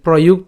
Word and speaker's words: প্রযুক্ত: এই যে প্রযুক্ত উচ্চারণ করছি, পয় রফলা যুক্ত, তাহলে এটা যুক্ত উচ্চারণ করলে ইউ, কারণ আমরা জানি যে অন্ত্যস্ত থাকলে তার উচ্চারণটা ইউর মতো হয় বা অন্ত্যেস্তীয় মতো হয়, তাহলে ইউ। এবং এখানে কয় তো রয়েছে যুক্তবর্ণ, তাহলে ইউক। তারপর থাকবে কি? তো, যুক্ত, প্রযুক্ত।